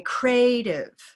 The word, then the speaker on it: creative: Creative, because this word happens to have an invisible y or a linking y.